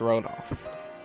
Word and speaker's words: Rodolph: So the H is silent, it's Rodolph.